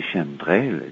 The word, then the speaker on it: chemtrail: Chem devrait se prononcer chemtrail pour chemical trail.